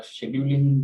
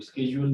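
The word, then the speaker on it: schedule: वो कहते हैं, या शेड्यूलिंग जो है वो कहा जाता है, उसको स्केड्यूल भी कहा जाता है। तो शेड्यूल ब्रिटिश इंग्लिश में कहते हैं और स्केड्यूल जो है वो अमेरिकन इंग्लिश में कहते हैं।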